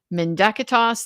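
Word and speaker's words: mendacitas: Menacitas and yes I use the hard C for all the Latin because we're not in church. Menacitas.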